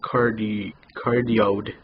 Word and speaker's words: Cardioid: It's pronounced Cardioid Condenser USB microphone.